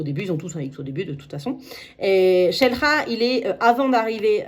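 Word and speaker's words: Xel-Há: 3è parc, c'est Shelra qui s'écrit Xelha avec un X au début. Ils ont tous un X au début de toute façon. Et Shelha, il est avant d'arriver à Toulou.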